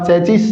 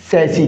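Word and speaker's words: chassis: फिर इसका प्रोनाउंसिएशन क्या होगा? चैचिस नो साथियों मैंने आपको बता रखा है इसका करेक्ट प्रोनंसिएशन क्या होता है? सैसी क्या होता है साथियों? सैसी।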